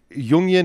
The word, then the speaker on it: Jungian: um Center for Advan the Center for Applied yunion studies Stephen uh yunion is that the correct pronunciation you got it okay so when I